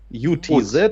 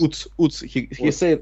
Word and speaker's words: Utz: His nickname is Utz, U-T-Z, yes. Utz. He told me that I must pronounce it like Utz.